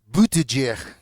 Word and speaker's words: Buttigieg: Tiene usted gente muy civilizada y liberales de centro, como es el caso de Pete Buttigieg o del gobernador Pete Buttigieg, así se pronuncia.